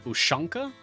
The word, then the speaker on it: ushanka: fuzzy hat i believe the actual name of this style of hat is an ushanka do not know if i'm pronouncing it correctly but it is spelled like u-s-h-a-n-k-a i believe ushanka uh it may look